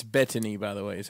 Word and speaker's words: Bettany: with vision with vision it's bedtime what it's Bettany by the way is how you say his